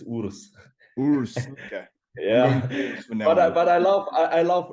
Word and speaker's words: Urs: we made it and it's funny how the americans and english-speaking guys pronounce because in germany it's urus but i love i